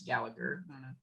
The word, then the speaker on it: Gallagher: like an irish thing the g silent america it's gallagher should ask him that but